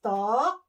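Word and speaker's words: 턱: Chin is Tok. Okay? Tok. Okay? T-O-K. T-O-G, pero yun ang pronunciation niya, talk.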